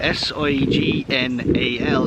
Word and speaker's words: signal: Why is S-I-G-N pronounced sign, but S-I-G-N-A-L is pronounced signal? Signal. Like, You've been wrecking my brain with this the last 5 minutes. Why is it a hard G when there's an A-L, yeah, but not a hard G when it's just an N?